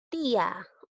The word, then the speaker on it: tía: Observo dos vocales, la I y la A. En este caso, la vocal cerrada está llevando tilde. Entonces, recuerda que cuando la vocal cerrada lleva tilde, se produce el hiato acentual. Entonces, en la palabra tía, hay hiato acentual.